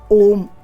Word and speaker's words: ॐ: ब्रह्मा विष्णु और महेश अ उ म ये तीनों चीजों को डिनोट करता है हृदय कंठ और तालू जब इन तीनों का समायोजन होता है जब यह तीनों अक्षर मिलते हैं तो ओम का उच्चारण होता है अब आपको मैं